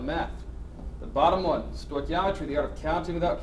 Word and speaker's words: Stoichiometry: is going to be covering something called compound Stoichiometry that's how you pronounce that big ugly word you got two